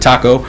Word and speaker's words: Toko: After our first professional development meeting, I spoke with my significant other, Lindsay Taco, spelled the same way as Mr. Toko, she pronounces it Taco, who has a master's in physical education.